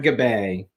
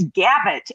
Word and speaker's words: Gabet: locker room terry davis francis fisher and gabay hi there you're trey french rosie trey did i pronounce it you know that that's the correct pronunciation but in indiana it's gavit and it was gabby gabbot hey before we